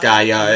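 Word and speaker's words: Gayà: Actually, it is pronounced Gaia, isn't it? The accent is over the second A, not the first A.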